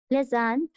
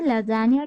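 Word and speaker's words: Lassaigne: So here the key concept is लेज़ेन test. ठीक है, और ये फ्रेंच प्रोनाउंसिएशन है और वी कैन से लैजानिया टेस्ट.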